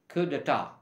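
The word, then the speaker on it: coup d'état: full word is actually kudata c-o-u-p-d-e-t-a-t but we pronounce it as kudata it's a french origin word basically it means taking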